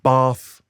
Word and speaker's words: Bath: see Stonehenge you could go and see um bath correctly pronounced you'll notice oh yeah with uh which